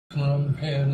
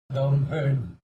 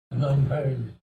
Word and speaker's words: Phnom Penh: And I learned that Phnom Penh is not the right pronunciation. Let me try to get it right. Phnom Penh sounds just with your lips. What? Don't think. It's not a click with your tongue. It's just lips.